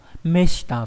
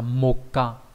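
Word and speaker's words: 目下: Meshita viết bởi chữ mục và chữ hạ. Nó có hai cách đọc, một là đọc là meshita nghĩa là người dưới, ngược với lại từ meue là người trên.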